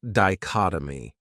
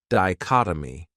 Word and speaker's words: dichotomy: Another great noun is dichotomy. This word has 4 syllables, and the stress is on that second syllable, dichotomy. That third syllable has that schwa, that sound, di-chot-o-my.